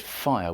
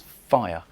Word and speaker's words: fire: What could have made her peaceful with a mind That nobleness made simple as a fire, For years I said 'fire' with two syllables. It's 'fire', it's one syllable.